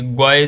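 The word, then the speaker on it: GUI: ग्वाई, इन्होंने आगे प्रोनाउंसिएशन बताइए कि ग्वाई से बोलते हैं, ठीक है।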